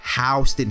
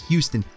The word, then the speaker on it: Houston: industry disgusting oh and by the way it's pronounced housed in here in new york and now you yeezy as texas call it as houston chinatown looks nothing like nyc chinatown one positive